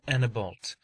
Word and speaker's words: Annebault: He bore the name of Monsieur de Annebault, which in our tongue is Monseigneur de Annibale, but the French pronounce it so that they usually made it sound like Monseigneur Asino Biu.